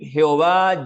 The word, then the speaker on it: Jehová: Podemos pronunciarlo como Yahweh, Jehová, Yahvé, ¿sí?